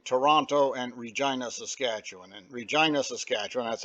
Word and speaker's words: Regina: And Regina, Saskatchewan, that's how you say it.